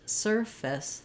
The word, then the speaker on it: surface: In service, we have first syllable stress. And the only real difference between these two is that in service, the V sound, is voiced, versus surface, the f sound, is voiceless.